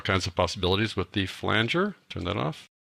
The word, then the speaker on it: flanger: It really is pronounced flanger, folks. Some people call it flanger, but it is flanger.